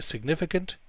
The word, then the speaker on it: significant: The stress is on niffy.